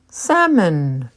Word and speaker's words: salmon: iron iron salmon salmon the L is silent salmon vase vase herb herb